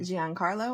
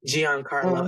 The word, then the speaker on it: Giancarlo: So, and it's got who we talked about, how do you say his name? Giancarlo, I believe is how you say his first name. Giancarlo Esposito.